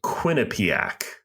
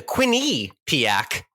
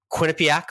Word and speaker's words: Quinnipiac: Quinnipiac pronunciation um so Quinnipiac for the record Quinnipiac you could just roll right off the tongue nice and quick no pauses no breaks no enunciations Quinnipiac uh